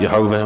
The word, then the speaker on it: Yehovah: We pronounce it Yehovah, other people pronounce it Yahweh.